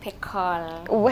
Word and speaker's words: Pekol: Tonight pronounce it. Pekol. Hey, I was right. You are right.